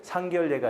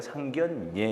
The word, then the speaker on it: 상견례: 시험에 많이 나왔던 것들은 상결례가 아니라 상견례 이런 것들.